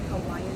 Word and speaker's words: Hawaii: That's how they say it, Hawaiian people, Hawaii. And staying at Courtyard Marriott.